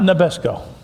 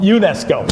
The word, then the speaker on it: UNESCO: of it called um not Nesco no UNESCO yeah you you got it you got UNESCO UNESCO United Nations educational